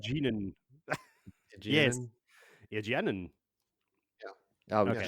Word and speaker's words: Egwene: I don't know how to pronounce this, but it's like Egwene or something like that. Egwene.